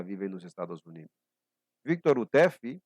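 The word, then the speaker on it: Houteff: Victor Utef, que às vezes é pronunciada no americano Hauref, mas vamos pronunciá-lo como Utef, igual como a ex-presidenta do Brasil, né?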